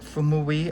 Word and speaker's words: gouache: I pronounce it gouache. I hope that's correct.